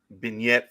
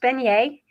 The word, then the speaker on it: beignet: if somebody wants a vignette for breakfast or a PoBoy for lunch where can they find it Well that's pronounced beignet thank you and you